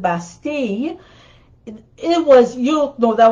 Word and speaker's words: Bastille: the bastille the bastille well we say bastille but they would pronounce it basti it was you know